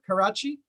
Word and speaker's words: Karachi: Karachi?